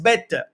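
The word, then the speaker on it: Bethe: y bastante relevante y Hans bet bet se pronuncia así bastante incómodo para un hispano parlante pronunciarlo en estos términos Pero bueno Ese es el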